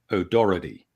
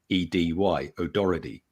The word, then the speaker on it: O'Doherty: and also New York, most people there pronounce it as O'Doherty. O'Doherty. So Sure. it sounds like it's O-D-O-R-R-E-D-Y, O'Doherty. Mm-hmm. Most people in Britain and Ireland would pronounce it O'Doherty. So you're pronouncing the H, like the H, O'Doherty. If you go to Scotland, they will likely say O'Doherty. So it really does vary.